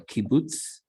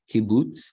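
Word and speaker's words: קובוץ: Okay, now oo, this oo is called a kibbutz. All right, it's got the 3 dots. They're sort of in a diagonal line underneath the letter. Kibbutz, it's oo as in pool.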